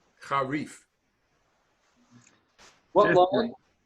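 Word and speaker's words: חריף: Charif. Harif. What Fifth line? Isn't that an F sound at the end? That's correct. Harif.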